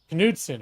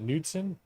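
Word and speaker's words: Knudsen: brand dairy products because kudon am I saying it wrong is it nudson we say kudon but I think it's I think that's you say it wrong just how we've been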